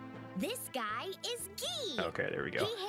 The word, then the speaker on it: Guy: own i really want to see how they pronounce his name this guy is ghee okay there we go he hails from the